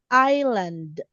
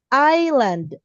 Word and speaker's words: island: Island. Iceland and Iceland. Okay. One more time. Island I do not include this one. Island island. Very good. This is silent s island.